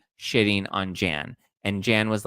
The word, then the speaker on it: Jan: But I was also sad that I'm going to call him Jan cuz his name is spelled Jan. And saying Yan is just kind of I don't like it.